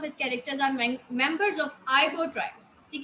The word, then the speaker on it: Igbo: Many of his characters are members of Igbo tribe. ठीक है, इसमें जी जो है साइलेंट है, ट्राइब कबीले को कहते हैं।